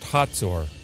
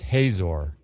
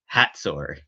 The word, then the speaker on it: Hazor: In Hebrew, the name is pronounced Hatzor, while in English, it's pronounced Hazor.